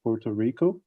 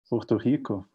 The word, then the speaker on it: Puerto Rico: the pandemic and monitoring in general uh in puerto rico uh which i just mispronounced i'm just saying that how it it is reading right now it's pronounced porto puerto rico perfect so that's that's how brazilians would do